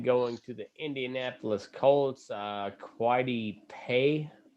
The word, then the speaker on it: Kwity Paye: Quidey Pay, something like that. Yeah, Kwity Paye. How do you say it? Kwity, I think.